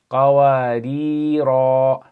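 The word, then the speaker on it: قَوَارِيرَا: Okay, so this first one, when you stop, you're going to pronounce it as qawarira. Okay. The second one, you are not going to pronounce the alif. So you're going to say qawarira min. So it's as though the alif is not there.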